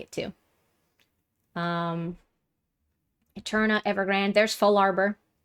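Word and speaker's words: Fallarbor: I've always said Larbor, but I realize it's the words fall and arbor. So I don't know if I should change how I pronounce it. Like, should I be saying Full Arbor?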